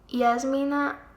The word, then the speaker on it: Yasmina: Americans say Jasmina, they change the primary stress because you put the stress on the second syllable, Jasmina or Jasmina, right?